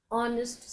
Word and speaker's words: honest: Six Honest Serving Men. Honest is spelt Honest, but it is pronounced as honest. H is silent.